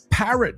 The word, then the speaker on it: parrot: So, parrot me throughout the show.